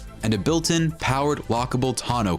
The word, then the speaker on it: tonneau: Rivian has also included a tailgate that can extend the bed to 83.6-inches, and a built-in powered, lockable tonneau cover.